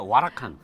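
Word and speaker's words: Huracán: 우선은 람보르기니 그 시리즈 중에 우라칸. 아. 이름도 세네요. 멋있죠. 발음 정확해. 와라칸.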